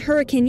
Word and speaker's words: Hurricane: were living with their families in or around Hurricane Utah yes hurricane is pronounced that way in the late '70s early